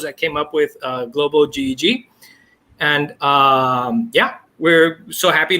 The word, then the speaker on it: GEG: That's GEG. That rhymes with egg. All other pronunciations are wrong.